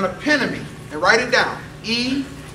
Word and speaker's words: eponymy: An eponymy, and write it down, E-P-O-N-Y-M-Y, eponymy, that's how it's pronounced.